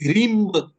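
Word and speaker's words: ह्रीं: साधना होती है है रिंग ह आर आई एम लेकिन इसे उच्चारण किया जाता है जब साधना की जाती है तो इसे रिम बोला जाता है और इसमें दुर्गा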